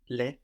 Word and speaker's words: les: Je ne veux pas les perdre. Very good. Je ne veux pas les perdre. So, L-E-S. No, we don't hear the S, but the E does change quality.